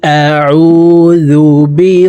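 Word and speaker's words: أَعُوذُ: বি রব্বিন নাস ক আউজুবি রববিন মালিকিন কিন এখানে ওয়াজিব গুন্নাহ হরকতের বামে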